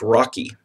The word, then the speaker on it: ROCE: It's abbreviated ROCE, and it's pronounced Rocky.